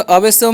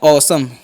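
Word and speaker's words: awesome: अब AWASOME है तो अवेसम नहीं पढ़ना है, क्या पढ़ना है, ऑसम, ठीक है, ए डब्ल्यू का उच्चारण हो जाएगा औ, ठीक है, और एस ओ एम ई है तो इसे हम पढ़ेंगे सम।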